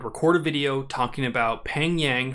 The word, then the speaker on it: Pheng Yang: a video talking about Peng yang who I've been informed that the name Fang was the improper pronunciation of it but Peng Yang